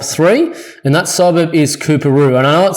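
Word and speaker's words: Coorparoo: And that suburb is Kooperoo. And I know it sounds a bit funny, but this is how it's spelled.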